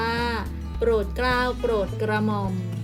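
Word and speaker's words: โปรดเกล้าโปรดกระหม่อม: กรุงเทพฯ อ่าน ว่า กรุงเทพฯ โปรดเกล้า อ่าน ว่า โปรด เกล้า โปรด กระหม่อม พี่ ทูล เกล้า อ่าน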